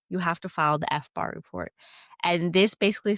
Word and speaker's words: FBAR: So I read something the other day about FBAR. Is that how it's pronounced?